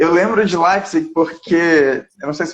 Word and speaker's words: Leipzig: Bom, é porque, Ah, assim, tem duas maneiras de se pronunciar. Você pode pronunciar Leipzig ou Leipzig. E a minha pronúncia é Leipzig, mas muita gente daqui mesmo fala Leipzig.